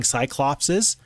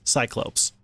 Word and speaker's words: Cyclopes: I was corrected on the pronunciation there, and that's very important because I keep saying Cyclopses, and that's just not, if you read it, that's not correct. It's Cyclopes.